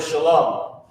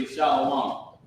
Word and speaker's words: Shalom: someone's breath or it's like the word Shalom like people mess up this word and say shalawam right they mess up and say shal comes from this root word Shalom this is not how